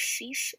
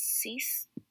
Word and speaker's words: six: cut five is sank six is cease it's about the same way but it's cease seven is sept eight